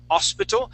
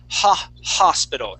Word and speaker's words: hospital: And this word here, we want to make sure to pronounce that H. Okay, so instead of saying hospital, we're going to say hospital. And that H is sort of it's a soft sound.